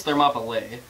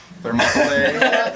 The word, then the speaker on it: Thermopylae: I think it's Thermopylae. Thermopylae. Because it's got an AE in it.